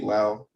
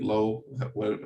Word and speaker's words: Lowe: a little bit but nate lau or nate lowe how he pronounced his name um he is someone